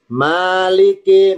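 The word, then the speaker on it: مَالِكِ: Maliki mimnya fathah. Maliki panjang. Maliki. Ya, maaf ya. Maliki. Maliki artinya ditambahi yang yang memiliki Maliki artinya yang memiliki. Tulisan Maliki. Kalau tulis latinnya Maliki. Maynya panjang, huruf A-nya doble.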